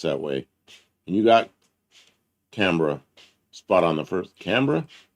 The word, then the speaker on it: Canberra: It's so often pronounced that way. And you got Canberra spot on the first.